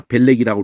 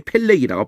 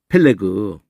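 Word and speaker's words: פֶּלֶג: 벨렉이라고 우리는 해야 있지만 이게 펠렉이라고 발음이. 받침도 이거 그지. 펠레그.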